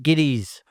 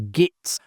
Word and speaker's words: Gittes: Largely because he repeatedly struggled to pronounce the surname of Jack Nicholson's character, Jake Gittes. Ironically, it was Nicholson who might have been expected to falter as he was acting opposite the father of his then partner, Anjelica Huston. Despite being corrected multiple times, Houston continued to refer to Gittis as Gits, prompting Polanski to eventually incorporate the mispronunciation into the character.